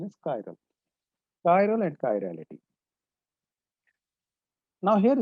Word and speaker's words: chiral: The correct pronunciation is chiral.